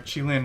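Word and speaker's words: Qilin: So we're gonna go for clone gun skip, or Keelan skip with the, or Chilin, I found out I've been mispronouncing it. Chilin skip with the clone gun.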